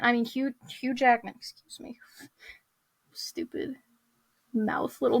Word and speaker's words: Hugh Jackman: you uh obviously he was being portrayed by huge Jackman I mean Hugh Hugh Jackman excuse me stupid mouth little mispronunciation there anyway so wolvy comes into the